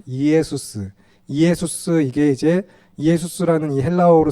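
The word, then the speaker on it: Ἰησοῦς: 구원자인데 짧고 간단하게 이제 축약을 하면은 성경이 기록될 당시에 헬라어로 이제 예수님의 발음 여기 쓰여 있는 헬라어를 그대로 발음하면은 이에수스예요. 이에수스.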